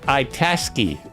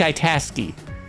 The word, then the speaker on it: Itasca: where it originates from, I want to pronounce it right, Lake Itasca. Lake Itasca is the pronunciation I'm seeing online.